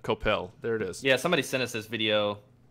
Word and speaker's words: Coppell: I think I clarified how to pronounce that, right? Coppell.